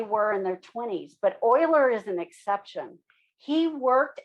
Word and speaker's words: Euler: symbol e this is euler's number and it is pronounced euler please don't say euler that's not correct okay it's a german name so um it's euler like o-i-l-e-r but spelled e-u-l-e-r so this is e